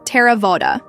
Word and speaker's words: Theravāda: Note: Theravāda is pronounced more or less in American English, like Theravāda. The TH sound in Pali is not like the TH in thick.